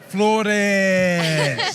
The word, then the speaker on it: Flores: Nonetheless, let's give her a lot of credit and a lot of love to Diana Flores. Yes. How did I do with that pronunciation, though?